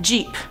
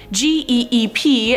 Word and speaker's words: geep: But let's move on to number 5, Jeep, or Geep. No, I'm not talking about the car Jeep. This is about G-E-E-P, and I was probably right the second time saying it's a Geep.